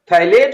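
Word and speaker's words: phthalate: Ammonium थैलेट, P silent होगा यहाँ पर, P अमोनियम थैलेट, ओके।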